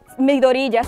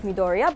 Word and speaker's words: Midoriya: I'ma sometimes let Midoriya slip instead of Midoriya, but for real, repeat after me.